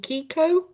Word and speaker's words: Keiko: Who I had to Google it um and I'm not sure if I pronounce this right, but he was actually called Keiko.